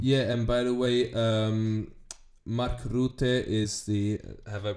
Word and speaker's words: Mark Rutte: Yeah, and by the way, Mark Rutte is the. Have I pronounced it decently?